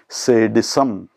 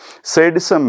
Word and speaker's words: sadism: One is its pronunciation. The word is sadism, not sadism.